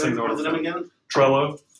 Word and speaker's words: Trello: Trello. How do you spell that? If I was going to say hello with a TR on the front instead of an H.